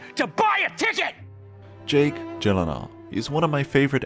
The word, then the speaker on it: Gyllenhaal: It is a Swedish name. So shouldn't it be like Gyllenhaal? Oh my god. I have to say, Gyllenhaal! the only two places that is pronounced correctly, my last name like you did just now, is in Sweden and in IKEA. IKEA.